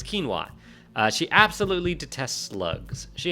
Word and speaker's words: quinoa: Quinoa? I don't know how you pronounce it. Quinoa. That's right, it's quinoa.